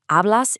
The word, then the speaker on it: hablas: In Spanish, that's hablas inglés. Remember the silent H at the start of hablas, and notice the accent on the E in inglés.